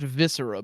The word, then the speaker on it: Viscera: It is pronounced viscera, by the way.